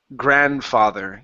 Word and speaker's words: grandfather: And your last one is grandfather. Give me a good th here instead of grandfather.